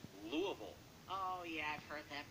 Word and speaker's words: Louisville: The E is silent, though. Spokane, Washington. Spokane. And? Louisville. It's not Louisville. No. What? It's Louisville.